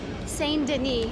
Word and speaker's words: Saint-Denis: Saint-Denis, but they pronounce it Saint-Denis.